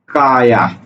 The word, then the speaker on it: কায়া: এই যে কায়া, এটা হলো কয়াকারে কা, সরেয়া, কায়া, অর্থাৎ এই জায়গাতে অন্তস্থয়ের উচ্চারণ কার মতো হচ্ছে? অয়ের মতো হচ্ছে, অর্থাৎ অন্তস্থ সমান সমান অ।